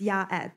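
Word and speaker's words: יועץ: Oh, I mean, it's pronounced Yaetz.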